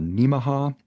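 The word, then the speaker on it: Nemaha: on in that area called Neaha which is kind of pronounced like Omaha area.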